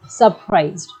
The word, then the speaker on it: surprise: Elle est surprise, which means she is surprised. So you can see the difference in the pronunciation as well. Il est surpris. Elle est surprise.